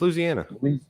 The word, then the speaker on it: Louisiana: with the Appalachian region if the way you're saying it creates unnecessary syllables you're saying it wrong that's everything yeah well you're saying I can't even say it right but it's Louisiana yeah it's Louisiana I